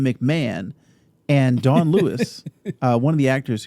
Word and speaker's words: Dawn Lewis: showrunner mike mcmahon which i just learned you pronounce his name mcmahon and dawn lewis uh one of the actors who plays the